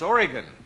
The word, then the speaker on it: Oregon: Did I pronounce it wrong? Yes. You always say... It's Oregon.